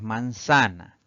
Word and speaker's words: manzana: La siguiente palabra es manzana. Tenemos tres sílabas para esta palabra. La mayor fuerza de voz recae en la penúltima sílaba, la convierte en una palabra grave.